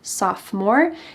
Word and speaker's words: sophomore: 10th grade you're a sophomore notice that the o in the middle of this word is silent sophomore if you're in 11th